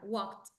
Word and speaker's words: walked: yes that accent yeah walked the letter L is silent you don't pronounce the the L it's um silent it's